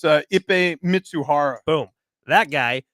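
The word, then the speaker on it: Ippei Mizuhara: It's Ippei Mitsuhara.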